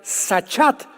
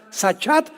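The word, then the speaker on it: שחת: También es importante porque la palabra hebrea sachat se escribe con s Samuel y ch como suena sachat con té de tío al final y esta palabra significa corrupción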